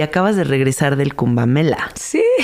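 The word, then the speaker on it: Kumbh Mela: acabas de regresar del cumb mela lo pronuncié bien kumbela verdad camela sí cuéntale a la gente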